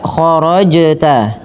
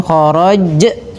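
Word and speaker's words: خرجت: Maka khorajta dan hati-hati menambahkan bunyi pada lafal hamzah. Jangan khorajj tapi dia sesuai dengan makhrajnya ya.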